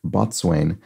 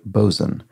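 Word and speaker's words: boatswain: word that I pronounced Bots is always pronounced bzen in spite of the the plethora of unsounded letters um I would want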